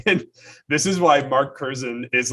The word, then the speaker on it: Curzon: I text Mark Curzon, who is Claire Curzon's dad, last week, asking which syllable of their name the emphasis should be on, because I've always said Curzon or Curzon, and Rowdy says Curzan at the end.